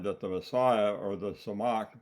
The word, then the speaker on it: Tzemach: Jeremiah prophesied that the Messiah, or the Samach, that's spelled in Hebrew Tzemach, Samach, the T is silent, would be a king out of the lineage of David.